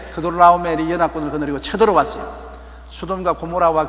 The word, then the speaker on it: 그돌라오멜: 그돌라오멜 발음이 안 돼요.